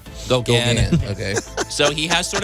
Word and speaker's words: Gauguin: I can't pronounce his last name. Gauguin. Gauguin.